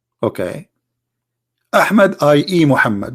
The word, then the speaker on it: Muhammad: name of this prophet mohammed okay hamid ie Muhammad but it is not Mohammed I mean there's a huge difference in the pronunciation he was different in